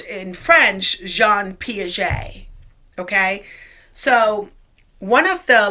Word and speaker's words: Jean Piaget: swiss biologist jean piaget it is spelled gene but it's pronounced john piaget it's french okay so when you're